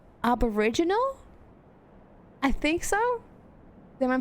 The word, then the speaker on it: Aboriginal: Is it like original but aboriginal? I think so. Am I pronouncing that correctly? Yeah, I know in Russian. Serious. I know. The Russian version I know, but yeah, Aboriginal.